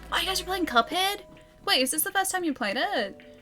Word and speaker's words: Cuphead: Ali, Cuphead is pronounced Koofeed. It's pronounced Cuphead.